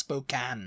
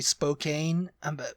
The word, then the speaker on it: Spokane: it's Spokan Spokane no it's Spokan Spokan yeah isn't it right I'm sure that was what that was what the thing I I Spokane I I have always said spok I've never been there so it's in Washington SP uh Spokane I used to say Spokane because you know Spokane Spokan yeah that's news to me Spokan if you're from Washington let us know if you say Spokane or Spokan yeah um the next